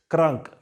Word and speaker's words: krank: Here also you pronounce it because it is appearing in the middle of a word.